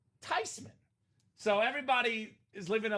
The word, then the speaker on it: Theismann: Theismann in the house. So in case anyone out there has been calling him Theismann for all these years, now you know. You're living a lie.